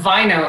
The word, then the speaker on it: Vaino: It's Vaino, actually. I always say, so you'll remember this, rhymes with wino.